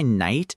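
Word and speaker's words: knight: Like, okay, tell me why night is spelled k n i g h t. Why is there a k at the beginning? You don't say the k. You don't say the k. You don't say the g h either. That word is basically 40% silent letters. It's just night with extra steps.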